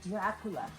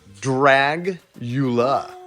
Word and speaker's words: Dragula: Dragula or Dracula? Dragula. Yeah, see? I thought you were pronouncing.